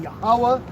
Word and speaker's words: Yahawah: So that's how you would say God's name is saying Yahawah in the name of Yahawashi.